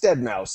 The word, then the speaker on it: Deadmau5: You've got, do you pronounce it Deadmau5 or Deadmau5? It's Deadmau5, isn't it?